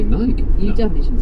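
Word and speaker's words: Νίκη: But it means victory in Greek, which you would pronounce in ancient Greek, Nike.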